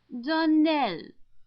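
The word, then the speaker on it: Donnell: would set it right Donald Accent on the last syllable and Saint Claire our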